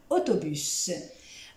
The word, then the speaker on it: autobus: Alors aujourd'hui, nous allons commencer avec les 15 mots de la première partie de cette série, de mots qui prennent un S à la fin et qui se prononcent.